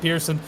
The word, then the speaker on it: Person: why is it not person and he's like well it's just our family pronounced it Pearson even though it's spelled person it was very unique